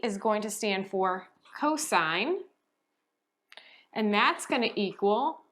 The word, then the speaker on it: cosine: Cosine is just written as COS, stands for cosine, again, long I.